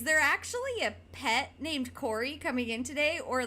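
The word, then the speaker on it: Kori: and I mean my my real name is Corey. It's spelled K O R I, which is not a common way to spell Corey.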